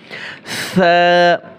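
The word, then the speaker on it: ث: দেখেন আমি কিভাবে বলছি সা অনেকে বলে ছা হবে না সা নরম করে সা সা এরপরে জিম এখানে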